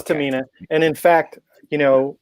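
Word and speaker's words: Tomine: you right cuz yeah I'm right it's Tamina and in fact you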